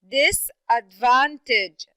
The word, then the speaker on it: disadvantage: first syllable telescope okay how about the word disadvantage disadvantage this is a four syllable word okay this advantage yes very good so this and then we have this disadvantage okay so it would be the first and the third syllable very good how about